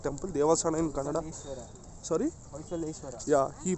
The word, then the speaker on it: Hoysaleshwara: Hoysaleshwara. Yeah, he pronounced that right.